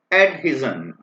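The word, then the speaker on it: adhesion: दिक्कत होती है अक्सर, अगर इसकी प्रोनाउंसिएशन देखना चाहें तो डिक्शनरी में आपको ईडी, उल्टा ई लिखा होगा, एड, ठीक है, और ही लिखा होगा, फिर जेड ई एन लिखा होगा। तो अब आप देख सकते हैं इस वर्ड को कैसे प्रोनाउंस करते हैं, एडहिजन।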